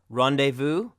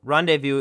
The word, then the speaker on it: rendezvous: last letter is Z these are also French words where the Z is not pronounced rendezvous and laissez faire so rendezvous is a meeting place